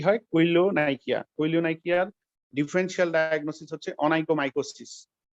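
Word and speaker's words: koilonychia: General examination নেইলে কোনো change বলতে কৈলোনাইকা, আমার উচ্চারণটা হয়তো একটু ঠিক হচ্ছে না, কৈলোনাইকা, KAYO, কৈলোনাইকিয়া, NYCHIA, কৈলোনাইকিয়া।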